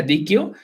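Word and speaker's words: Deque: Se escribe D-E-Q-U-E, que se pronuncia DQ y está enfocado 100% en accesibilidad.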